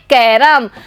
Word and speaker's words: कैरम: बच्चों क पे ऐ की मात्रा लगी हुई है, लेकिन जब इसको हम शब्द में बोलते हैं तो इसका उच्चारण हम करेंगे कैरम। बच्चों इसमें ऐ की जगह एक का ध्वनि हमें सुनाई देती है।